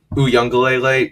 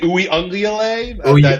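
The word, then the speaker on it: Uiagalelei: corner and the safety away from him, and Uyunglele just completely missed him.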